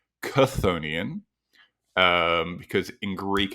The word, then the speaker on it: chthonian: um I actually figured out that it is pronounced konian um because in Greek it's spelled with the